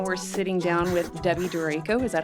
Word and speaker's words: Durako: And right now we're sitting down with Debbie Durako. Is that how you say it? Durako. Durako.